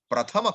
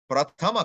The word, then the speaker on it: prathama: Prathama karaka. Not pratham, sorry. Prathama karaka.